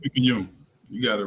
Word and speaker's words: Picayune: Picayune.